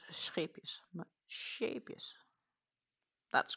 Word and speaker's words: Scheepjes: Not Shapeus, but Shapeus. That's correct. Shapeus. Fixed.